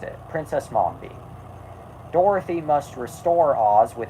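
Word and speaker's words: Mombi: princess n Mambi I caught myself before I mispronounced it princess Momi Dorothy Must restore Oz with her new friends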